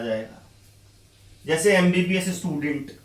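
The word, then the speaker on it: MBBS: जैसे एमबीबीएस student अब लिखने में एम से शुरू हो रहा है लेकिन बोलने के लिए अगेन ए प्रोनाउंस करना पड़ेगा। एम बोलने के लिए ए बोलना पड़ेगा पहले।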